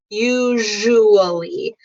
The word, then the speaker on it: usually: So the way you say usually is you, say the word you, and then usually. So that's the sound.